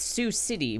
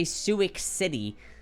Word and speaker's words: Sioux City: Iowa like Sioux City do we say it's Sioux City we don't say suik City like no one like